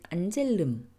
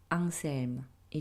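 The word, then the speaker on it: Anselm: 거 같은데요 어 안 안젤름이 이제이 아티스트의 이름이고 이게 독일 분이시다 보니까 이제 독일식으로 발음하면 안젤름 일 텐데 어 브러 식으로이 이름을 읽으면 앙셀이 정도 되는 거 같습니다 어 올해 부산 영화제에서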